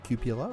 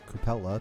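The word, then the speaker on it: cupola: You can tell by the what's called the cupula or coupella depending how uh you ask to pronounce it which is like little vision slits for the commander sticking up the top.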